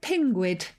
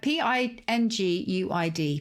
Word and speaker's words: pinguid: A bit like Pingu. So Pinguid.